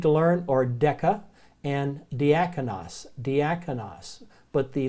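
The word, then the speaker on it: διάκονος: a final s or Sigma it's called a diaconis and this is servant or waiter it's where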